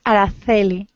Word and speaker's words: Araceli: But in South America, it will be said Araceli, but in Spain we say, Araceli. We pronounce the C.